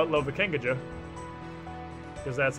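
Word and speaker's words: Lovakengj: Now we can cross the bridge up here to Lovacane. Or as I like to call it, Lovakengaja. Because that's how it's spelled.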